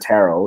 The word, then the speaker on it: tarot: one hears the word tarot yes children it is silent T please do not pronounce or pronunciate the T at the end the impression that most